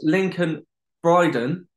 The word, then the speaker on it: Lincoln Bryden: on who's on series 2 and that is lincoln bryden how you doing mate i had to make sure i pronounced that right i'm doing very well i'm